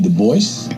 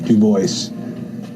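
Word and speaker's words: Du Bois: david levering lewis w.e.b dubois yes he always insisted on that pronunciation uh he did not like the gaelic pronunciation though in his antecedence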